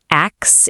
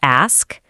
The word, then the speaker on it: ask: Are you going around saying axe instead of ask?